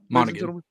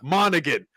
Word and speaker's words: Monaghan: Monaghan. Yeah. Monaghan.